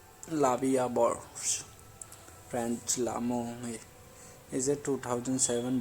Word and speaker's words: La Vie en Rose: La Vie en Rose, literally life in prank, French pronunciation La Vie à Bord, French L'amour, is a